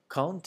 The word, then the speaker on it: quand: And you'll notice that with quand, when it's quand by itself, the end is pronounced like a D sound, like a D. When quand comes before a vowel, such as in quand, the D changes to a T sound.